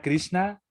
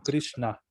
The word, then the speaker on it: Krishna: palabra christina realmente palabra krishna es una palabra bien complicada en el sánscrito en realidad y ahora vamos a ver por qué no es no es como nosotros normalmente lo pronunciamos como trishna sino que vamos a